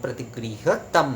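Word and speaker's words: प्रतिगृह्यताम्: आपका जो है वो सुनने में आपको अनुस्वर जैसा लगेगा, पर वो असल में जो है उच्चारण में वो म ही हो रहा है।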